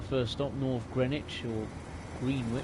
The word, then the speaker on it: Greenwich: So this is our first stop, North Greenwich, or Greenwich. I think it's pronounced the same way as Greenwich in London.